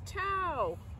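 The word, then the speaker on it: Thao: My name is Tao. It helps if you take out the H when you say it, but remember to put it back in when you spell it.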